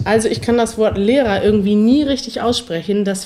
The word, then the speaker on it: Lehrer: L e r a Lehrer ist eigentlich fast genau die gleiche Aussprache und macht es sehr viel einfacher er kann man eigentlich immer durch a ersetzen im deutschen z.B Lehrer lauter Mutter Mutter michaelko